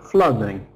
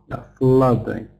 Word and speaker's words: flooding: Of course, we never stress ing suffix. We never stress this. So, if it's two syllable word with ing suffix, then it must be uh strong on the first syllable. Must be fl I've written it wrong here. But a sound, not flooding. flooding.